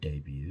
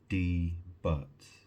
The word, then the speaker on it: debut: Because you know anyone who didn't know how to say it, you would look at it and you think, "Well, that's debut." Debbut. What does that sound like?